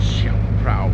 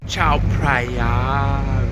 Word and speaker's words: Chao Phraya: Rolling down the Chao Phrao River. Yeah. Chao Phraya River. Said it wrong.